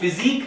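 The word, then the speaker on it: physique: एक वर्ड आजकल और कॉमन इस्तेमाल किया जाता है, वो फिजिक नहीं है, वो फिजिक है। इसका उच्चारण फिजिक दरअसल आपके शरीर की आकृति अथवा बनावट।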